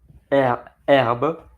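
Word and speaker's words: herbes: the herbs which is Arab. We don't pronounce the H in French.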